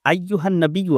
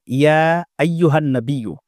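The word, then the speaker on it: أَيُّهَا النَّبِيُّ: দেখুন, আসসালামু আলাইকা আইয়ুহান নাবিয়্যু, এই আইয়ুহান নাবিয়্যু আছে। তো অনেকে এইরকমভাবে উচ্চারণ করে, আসসালামু আলাইকা ইয়া আইয়ুহান নাবিয়্যু, মানে ইয়াটা এক্সট্রা লাগিয়ে দেয়।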